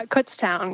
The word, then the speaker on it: Kutztown: went to I think it's how do you pronounce it is that CS CS University uh Kutztown yeah cown so when you went to Kutztown